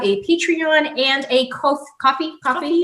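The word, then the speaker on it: Ko-fi: patreon and a coffee coffee is how you say it coffee if you want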